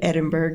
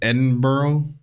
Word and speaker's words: Edinburgh: And I said, "Well, this is uh" I I said Edinburgh. But it's Edinburgh.